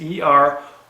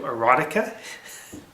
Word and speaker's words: Eroica: And the way it's spelled is E-R-O-I-C-A. I'm like, you're going down to do erotica? He goes, no, not erotica, it's Eroica.